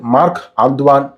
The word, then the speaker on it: Marc-Antoine: ഇതിൻ്റെ പേര് പലരും തെറ്റിച്ചാണ് ഉച്ചരിക്കുന്നത്. യഥാർത്ഥത്തിൽ ഇതിൻ്റെ പേര് മാർക്ക് ആന്ത്വാൻ ബാർവ ഗാനിമെഡ് എന്നാണ് പെർഫ്യൂമിൻ്റെ ഫ്രഞ്ച് ഉച്ചാരണ ശൈലിയിൽ പ്രൊനൗൺസ് ചെയ്യേണ്ടത്.